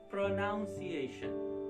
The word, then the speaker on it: pronunciation: so it becomes none there is no chance of getting noun sound okay so you have